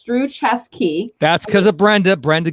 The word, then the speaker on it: Struczewski: spelling are you guys loving this right now pronounce through chess key that's because of brenda brenda gave me the